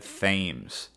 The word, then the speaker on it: Thames: That's right, I said Thames. The citizens of New London don't waste a second thought on how the Limeys in Old London might pronounce it.